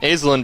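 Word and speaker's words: Azalyne: A sorry, Alen, I don't know how to pronounce that. A Z A L Y N E Ain Ain. Yeah, there we go. Aelen Beck only a freshman.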